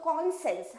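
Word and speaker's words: conscience: होगा एक आप क्या कॉन और ये साइंस ये दोनों रहता है बट बोलेंगे हम लोग कॉन्सेंस कॉन्सेंस हमारा माइंड का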